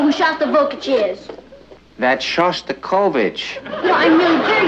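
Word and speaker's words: Shostakovich: taking me to hear shav vokic tonight honey I think that's pronounced sha kovich we'd like to meet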